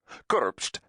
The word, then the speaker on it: Kurpst: Kurpst, pronounced Kurpst, was the capital of the Republic of